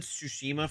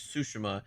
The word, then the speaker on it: Tsushima: God, I'm trying to get I've said Tsushima for so long. It's Sushima. It's pronounced in the game as such.